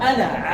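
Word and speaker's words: أنا: Mais lorsque tu veux passer dessus, qu'est-ce que tu fais? tu ne dis pas. Tu fais comme s'il n'existait pas. Tu l'effaces, mais dans la prononciation.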